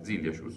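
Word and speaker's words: Zilliacus: mi hanno detto che va messo l'accento sulla prima vocale, Zilliacius dovrebbe essere, che è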